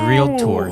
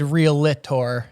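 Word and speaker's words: Realtor: re what the heck is it a three syllable word e it's real tour you cuck yeah it it is real tour what did I say you do you say caramel you said real Lor it's real Tor athlete athlete I speak uh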